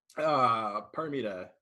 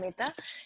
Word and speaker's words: Paramita: Paramita. Yes. Is that how you pronounce it? Did I screw it up? Yes, Okay. yes, All it's right, cool. Paramita.